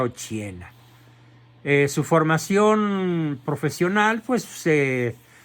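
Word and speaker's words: Occhiena: se llamaba Margarita Ochiena, con doble C, se pronuncia Ochiena.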